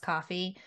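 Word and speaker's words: Ko-fi: is it's called Kofi which is pronounced coffee but really like it's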